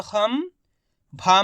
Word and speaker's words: खम्भा: अब इसका उच्चारण किस प्रकार से करेंगे चलिए देखिए। खा में अनुस्वार की मात्रा खम, खा में अनुस्वार की मात्रा खम, कैसे उच्चारण हो रहा है? खा में अनुस्वार की मात्रा खम, भा में आ की मात्रा भा, तो मिलके बन जाएगा खम्भा।